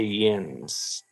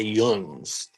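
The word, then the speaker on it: yinz: See, we mo most people around here don't say yins. We say yuns. We're we're we're like we even bastardize the Yins. We're Yungs. Yungs guys.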